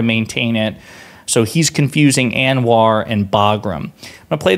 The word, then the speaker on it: ANWR: So he's referring to ANWR, A-N-W-R. It's an acronym. It's pronounced ANWR.